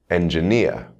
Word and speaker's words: engineer: Words ending in ear, engineer.